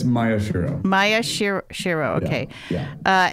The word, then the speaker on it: Maeshiro: pronouncing your name correctly is it may Shiro it's Maya shirro Maya Shir shirro okay